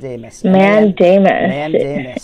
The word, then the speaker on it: mandamus: that now and Amos Amos man Daymond is that how it's pronounced that's how it's pronounced and it's spelled MA and DA mus and it is Abel on